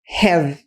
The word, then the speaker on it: have: O H em inglês, nessas palavras, elas normalmente têm um som de R fraco. Eu fiz um vídeo aqui no canal só sobre como melhorar sua pronúncia também, recomendo muito esse vídeo para vocês. O som de R fraco, por isso que o som é como se fosse have.